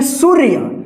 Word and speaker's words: सूर्य: पढ़ेंगे ठीक है सूर्य यानी ये जो है ना या के ऊपर है रे तो इसके साथ उच्चारण नहीं होगा इससे पहले वाले अक्षर के बाद आधार आर उच्चारण करेंगे इसे सु के बाद